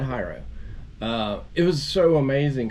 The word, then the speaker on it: Hyro: shows was called hero it's spelled hyro but because it's tight roping and high tight roping and high diving so I think it's hyro but everybody kept saying hero I call it hyro uh it was so